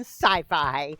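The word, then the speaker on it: Syfy: Timeers airing this fall on Sci-Fi. Oh my. What? No, no, no. They just spell it s y fi, but it's pronounced sci-fi.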